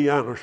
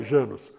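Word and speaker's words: János: e o janos hoje a pronúncia correta é janos mas a gente fala janos o janos hoje é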